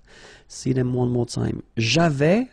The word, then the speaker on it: avais: J'avais, final S not pronounced. Tu avais, same thing.